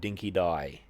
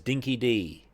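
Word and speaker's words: dinky-di: The worst thing about it is the fact that they didn't correct the Hunchback's pronunciation of the word dinky die. He says dinky dee, and he says it the whole game.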